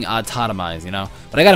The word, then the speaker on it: autotomize: day pronounced a toiz I thought it was automized his entire mine entire M no entire time uh but it ended up being autotomized you know but I